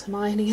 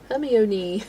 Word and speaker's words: Hermione: remember not knowing how to pronounce Hermione until book four. She was Herion for the first three books.